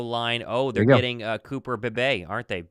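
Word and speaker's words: Cooper Beebe: oh they're getting Cooper Bay aren't they is it baby or how do you say his last name I I think it's be I don't I could be wrong maybe it's something else I think it's be um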